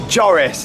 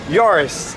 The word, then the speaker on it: Joris: It's not Joris, it's Yoris, like Yoris, like you're saying it like that.